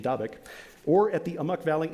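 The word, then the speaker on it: Dabiq: in northern syria called davik which i'm told is the correct pronunciation dabek or at the amuk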